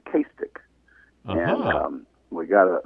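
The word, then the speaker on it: Cistach: out last night my wife and I it's castic c i s t a c h but it's castic and um we got a that's the GIC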